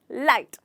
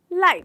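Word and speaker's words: light: मतलब है लाइट प्रकाश यहां पर भी हमारा लैटर जी जो है वह साइलेंट हो जाता है हम इसे भूनेंगे लाइट लाइट अगला ट्रिक है इसमें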